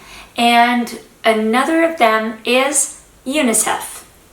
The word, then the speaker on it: UNICEF: that can be pronounced individually as new words phonetically. Keep that in mind. And another of them is UNICEF. UNICEF.